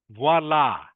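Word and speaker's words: voilà: Like I say, it is French. It's a French word.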